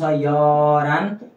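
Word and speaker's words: 열한: अब उच्चारण गर्नुहोस् हान, यल हान, यल हान। अब यसको उच्चारण चाहिँ के गर्नुहोस्, य लले हलाई भेट्यो भने ह कोल्याप्स हुन्छ, यरान।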